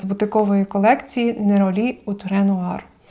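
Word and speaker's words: Néroli: рлен з бутикової колекції неролі утренуir на французькій манер називають неролі будемо так само вимовляти неролі утнуар - це ультрачорний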